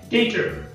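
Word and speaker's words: debtor: ठीक आहे, तर त्याच्यानंतर बघा की हा शब्द आहे डेटर, प्रोनाउन्सिएशन आहे डेटर. आता याच्यामध्ये देखील हा बी हा टीच्या आधी आलेला आहे म्हणून तो साइलेंट लेटर आहे. त्याचं प्रोनाउन्सिएशन होत नाही, साइलेंट लेटर मध्ये बीचं प्रोनाउन्सिएशन होत नाही.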